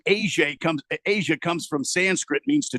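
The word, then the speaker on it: A'ja: Who's the Aja girl? And they're like, no, it's Asia. Oh, okay. Yeah, Asia.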